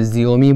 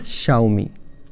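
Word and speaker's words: Xiaomi: बहुत से लोग गलत तरह से प्रोनाउंस करते हैं, कोई ज़ियोमी बोलता है, कोई कुछ बोलता है, but correct pronunciation is शाओमी।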